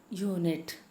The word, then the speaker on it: unit: like i told you unit unit u so it's spelt with you but okay while while we utter it it sounds something else so you we pronounce it as you a unit okay here the